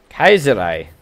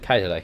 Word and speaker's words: Kaiserreich: Someone of you with the Jesus says that it is actually Kaiserreich. Kaiserreich. But it's Reich, isn't it? It's Reich. So you pronounce Reich.